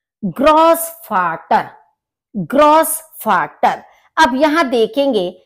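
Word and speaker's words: Großvater: दिखाई दे रहा है, इसका प्रोनाउंसिएशन होता है सा, जैसे सांप की आवाज होती है स, इस तरह से। तो इसलिए हम इसको बोलते हैं ग्रॉस फाटर यानी कि ग्रैंड फादर, दादा, नाना, इनको ग्रॉस फाटर कहा जाता है।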